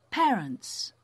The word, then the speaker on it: parents: Parents.